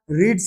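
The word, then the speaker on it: read: তাহলে সেই অনুযায়ী আমরা ভয়েস চেঞ্জ করব, এটার উচ্চারণটা কিন্তু চেঞ্জ হয়ে যাবে, রিড, রেড, রেড, স্পেলিং কিন্তু সেম।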